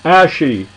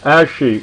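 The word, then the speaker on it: ashe: all now there is the ashy a-s-h-e with an accent on the E and as she is said to be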